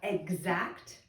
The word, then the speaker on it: exact: of these we have exact do you hear eggs or X in exact like your eggs I'm going to just